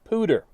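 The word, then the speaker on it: Poudre: videos back they mentioned cash la podre river pronounced pooter same general same general area first weird thing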